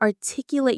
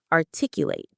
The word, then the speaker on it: articulate: You're able to articulate your thoughts much more clearly and quickly. Here's our next D2 word, articulate. Let's pronounce it. Articulate. Articulate. The stress is on the second syllable.